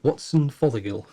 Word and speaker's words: Watson Fothergill: Watson Fothergill.